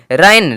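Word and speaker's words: reign: रिजाइन मतलब त्याग पत यानी कि जी का उच्चारण नहीं हुआ है आरई आई जी एन रन रन अब देखिए यहां पे एन एन के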